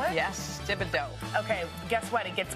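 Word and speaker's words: Thibodaux: d a u wait is that how you spell it yes dibido okay guess what it gets better ken's 23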